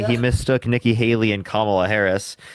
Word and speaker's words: Kamala: I said Kamala's name wrong a few times, but that don't make me plumb crazy.